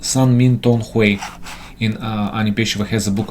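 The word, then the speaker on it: 三命通會: So she translates the book as the meeting of the three fates, and it's pronounced San Min Tong Hui.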